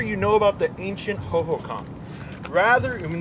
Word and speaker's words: Hohokam: Rather, you know about the ancient Hohokam, rather, I mean, they don't even pronounce it right, the Hoogum.